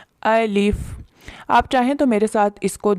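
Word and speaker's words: ألف: پہلا حرف ہے الف۔ اس کو الف اس طرح اردو کے لہجے میں نہیں پڑھنا، اس کو عربی لہجے میں پڑھنا ہے۔ الف۔ آپ چاہیں تو میرے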